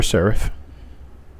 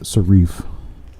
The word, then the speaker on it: serif: little minor split lower serif and boys and girls the world the word is pronounced serif it's not sarif just to be sure